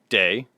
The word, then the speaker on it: De Backer: D-E, day, and then Backer, just like spelled like Backer.